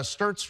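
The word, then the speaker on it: Stirtz: Conference crown and uh stts rhymes with spurts Jak spurts and he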